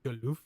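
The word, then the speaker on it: Galuf: Also, I think I've been saying Gallup's name wrong. It's Galof.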